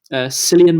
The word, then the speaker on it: Cillian: Cillian Um, Murphy is the name of him. yeah, You pronounced it right.